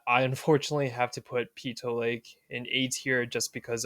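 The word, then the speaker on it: Peyto Lake: So afterwards, we decided to go to this lake called Pito Lake. It's actually pronounced PTO Lake, not Po Lake as some may call it.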